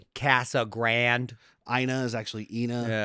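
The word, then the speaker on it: Casa Grande: It's just it's Casa Grand.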